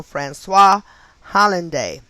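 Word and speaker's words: François Hollande: francois hollinade and his name is pronounced f-r-a-n-c-o-i-s is spelled i'm sorry and his last name h-o-l-l-a-n-d-e so francois hollande a name having gematria of 75 84 and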